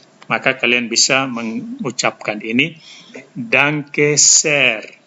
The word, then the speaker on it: Danke sehr: Kalau terima kasihnya mau ditambah lagi dengan terima kasih banyak, maka kalian bisa mengucapkan ini Danke sehr. Danke sehr. Ada H di sini dengan E, maka H-nya diucapkan panjang.